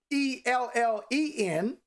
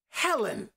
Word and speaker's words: Helen: where i'm going now the breathing sound the dossier gives the h sound without having to write the h so you get the